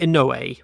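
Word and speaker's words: Inoue: eay Yus Iglesias Taki ano most of us say Anu I'm pretty certain is actually ano iners Ireland Eddie Irvine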